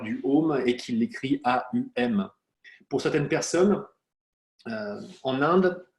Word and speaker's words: Om: On le prononce Aum, par contre on peut l'écrire Om.